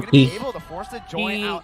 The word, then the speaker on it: KYY: Di ba nung binigay sa atin yung pronunciation guide KYY, but tawag lang Key. Key base sa kanila.